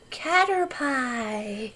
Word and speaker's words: Caterpie: I will name you Caterpie. Or Caterpie, as some people say.